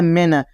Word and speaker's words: मेन: क्या लिखा है दोस्तों मेन एम ई एन क्या है मेन आपको मीन नहीं पढ़ना दोस्तों क्या पढ़ना है मेन